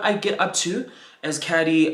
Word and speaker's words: Caddy: C-A-D-D-Y. That's how you say it. Just because. Hey, it's your boy C-A-D-D-Y, pronounced Caddy.